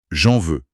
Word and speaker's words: j'en veux: Il y a une liaison, une fusion presque. J'en veux. Oui, c'est très lié. Ça donne un rythme bondissant à la phrase. Tu en veux ? Oui, j'en veux.